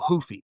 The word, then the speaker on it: Ruffy: And Mauricio, he's Brazilian, so you got to go hoofy. No, no, no Rs pronounced.